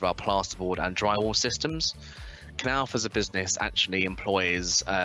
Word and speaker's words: Knauf: A lot of people mispronounce our company and say it's Knauf or Knauf. It's actually a hard K.